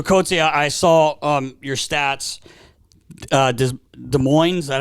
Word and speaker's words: Des Moines: Des Moines, is that how you say it? Des Moines.